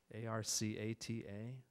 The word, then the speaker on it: Arcata: A-R-C-A-T-A?